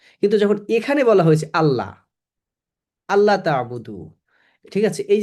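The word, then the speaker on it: الله: যখন এখানে বলা হয়েছে আল্লাহ আল্লাহ তাবুদু ঠিক আছে এই যে আল্লাহ এটা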